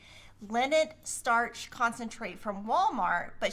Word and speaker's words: Linit: We did get Yeah, a comment from Michelle B that says that she gets the brand Linnet, which is spelled Linit, Linnet starch concentrate from Walmart, but she thinks Amazon has it now too, and it's just like Stay oh, Flow.